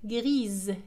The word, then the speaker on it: grise: gris لا تنطق S لأنها جاءت في الأخير، لكن عندما نضيف E للمؤنث grise تصبح grise لأنها جاءت بين ساكنين I و E entre deux voyelles I E.